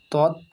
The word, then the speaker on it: তৎকালীন: তৎকালীন ত খণ্ডিত তৎকালীন কয়ে আকার লয়ে দীর্ঘি দন্তেন্য তৎকালীন।